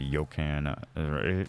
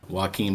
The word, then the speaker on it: Joaquin: the Buckley pick, the Yokan. Is that how you say it? Yokan? No, Joaquin Buckley.